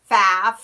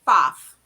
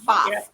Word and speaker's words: Pfaff: And they'll say Pfaff or Pfaff or so the P is silent, and it's just Pfaff. It's Perfect. A short A and FAF, really, Pfaff.